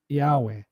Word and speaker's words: Yahweh: When you pronounce it, you don't pronounce the consonants, you pronounce the vowels. So the 5 vowels, and that's how it was pronounced, the E, A, R, U, E, right?